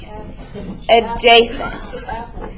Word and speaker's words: adjacent: new a is called adjacent adjacent Jason but did these kind of silent so it's Jason but the D is silent that's where the adj